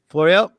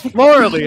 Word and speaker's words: Florely: I know that Floriel, I always say your name wrong. Florely. Okay, yeah. Vic, would you quit telling me to pronounce it wrong? It's Florely. I told you.